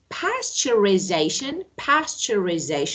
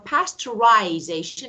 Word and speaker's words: pasteurization: So let me say, you can say, okay, pasteurization, that is American, or pasteurization is British. So it's your choice.